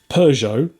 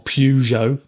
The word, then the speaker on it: Peugeot: So they own Peugeot or Pujo if you want to say it wrong like an American.